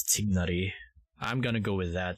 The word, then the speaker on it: Tighnari: find tignari there tignary I know he's pronounced tinari in the uh in the English dub but for for True um Middle East uh Middle East language um pronunciation it's dignity I'm gonna go with